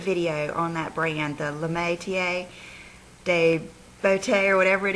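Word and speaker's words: Métier: Like today, I just, got a little bit of the Metier is the way you pronounce that, Corinthian, and I put just a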